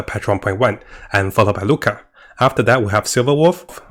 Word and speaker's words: Luocha: So the second prediction is I think Luocha will actually come earlier. So Luocha, not Luocha, right? I cannot pronounce his name, is Luocha.